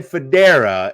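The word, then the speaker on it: Fodera: obviously jonathan and then even though it's said federer it's spelled f-o-d-e-r-a all of his platforms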